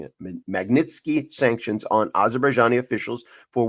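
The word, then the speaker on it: Magnitsky: Of advocates pressed for the imposition of global Minsky Magnitski. I'm always mispronouncing it. Magnitzky sanctions on Azerbaijani officials for war crimes.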